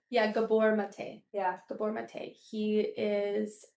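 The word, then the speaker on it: Gabor Maté: So you say his name Gabber Mate. Yeah, Gabbor Mate.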